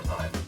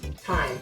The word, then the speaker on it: thyme: Thyme or thyme? Thyme. It's pronounced thyme. It's not pronounced thyme. What's the TH for then? I don't know. It's silent.